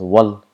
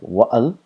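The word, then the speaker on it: وَالْ: wasl, it disappears and it is pronounced as wal. It is not like wa'al, it's wal.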